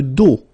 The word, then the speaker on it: dos: Le dos, final S not pronounced, okay?